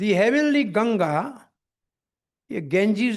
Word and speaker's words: गंगा: के लिए हमने उसको अडॉप्ट कर लिया ये गंगा जी है उसको गेंजीस कर दिया जैसे राेंद्र नाथ को क्या कहते